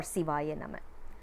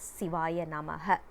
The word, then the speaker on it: Sivaya Nama: they are pronouncing it, they are saying it as Sivaya Namaha. But that is not the right pronunciation. For songs, probably it is okay, but when it comes to mantra, we need to pronounce it correctly.